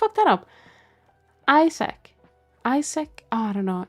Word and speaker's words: Isaac: Like I'm putting like hang on how how to pronounce Isaac. Is wait what? Isaac. Isuk.